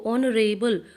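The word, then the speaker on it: honorable: अब देखो ऑनरेबल, ओ साउंड आ रही है, यहाँ पर एच साइलेंट है, ठीक है, तो यहाँ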